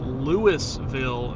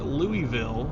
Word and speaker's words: Lewisville: And uh we got an EF4 tornado in Lewisville, not Louisville, even though it's spelled the same way.